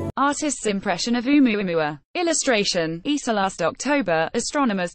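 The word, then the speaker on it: ʻOumuamua: Naturally, as the first interstellar object ever detected, Oumuamua, pronounced Oumuamua and meaning a messenger from afar arriving first, has been under intense scientific investigation.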